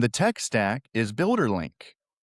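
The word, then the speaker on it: Lynk: And the tech stack is Builder Link.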